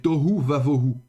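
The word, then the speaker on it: תֹהוּ וָבֹהוּ: la prétonique, eh bien, il faudra prononcer le vav avec un kametz, donc un vav kametz. Alors, j'illustre cela. Donc, si vous avez dans le début de la Genèse, vous avez tohu vavohu, hein, donc le tohu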